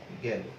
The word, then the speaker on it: গেল: এই যে গেল, এটার উচ্চারণটা কিন্তু আমরা দেখব এরকম হবে, গেল।